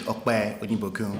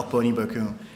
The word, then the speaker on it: Okpe Onibokun: Again, my name is Okpe Onibokun. Okpe. Yes. I got it. A Nigerian name, so, the Nigerian pronounce Okpe Onibokun.